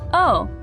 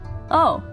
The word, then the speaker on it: 王: Shout, "Oh, that's the onyomi, the Chinese reading. It sounds like a sudden realization or maybe the sound you make when you see the axe falling." "Oh, king."